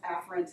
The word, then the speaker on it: afferent: They're actually pronounced afferent and efferent, but it's really hard to hear the distinction when you're lecturing and saying afferent and efferent.